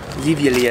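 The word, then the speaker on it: živjeli: What Okay, I think cheers in Croatian is zivjeli.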